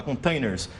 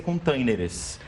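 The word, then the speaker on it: contêineres: No português é containers. Mas na pronúncia tem o S. Tem o E. Eu só quis dizer, tem o E e o S. Só quis dizer que as pessoas confundem justamente porque na pronúncia, às vezes elas querem colocar igual o inglês e acabam confundindo. Essa palavra já foi aportuguesada e termina com ES, containers.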